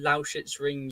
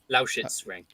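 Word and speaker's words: Lausitzring: It's the Dekra Lauschitz-Ring Euro Speedway. Lauschitz-Ring.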